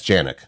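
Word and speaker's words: Januik: That's Janik.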